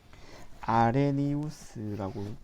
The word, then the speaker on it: 아레니우스: 에우리우스 시, 요시, 에우니우스, 아레니우스라고 발음하네요.